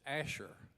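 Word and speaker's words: Asshur: word is Syria the the real word there is Asher but Greek Couldn't Write Asher because Greek has no sh so Greek had had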